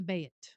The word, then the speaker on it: Bayt: inner cadre in the Bayt. And it's spelled B-A-Y-T, Bayt.